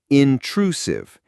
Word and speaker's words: intrusive: The stress is on the second syllable, intrusive. The last part, sieve, has a soft S sound, like the S in vision.